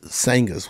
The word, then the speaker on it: Sangahz: things a lot of people say what is sanghas what is that you know or they read it and of course I spell it uh s-a you can see here I